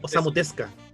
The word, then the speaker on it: Osamu Tezuka: La pronunciación como japonesa no se pronuncia la U. Sería Sería como Osamu Tezuka. Así Osamu es, Tezuka.